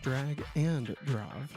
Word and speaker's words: Drag x Drive: Apparently, it's pronounced drag and drive.